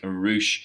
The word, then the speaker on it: Rush: than I have and Roush it spelled like rush but it sounds like Roush he is obviously the